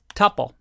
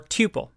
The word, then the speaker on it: tuple: And this one is called a tuple or tuple, depending on how you like to pronounce it.